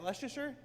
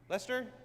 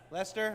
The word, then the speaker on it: Leicester: How do you say? Is that Leasher? Lester. Lester.